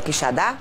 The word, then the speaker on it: Quixadá: É assim que pronuncia, André? Olha lá o gol. Quixadá. É Quixadá? Isso.